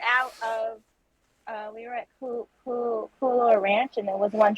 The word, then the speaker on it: Kualoa: I keep hearing Cooler Ranch, like the chips, and I was like, that can't be right.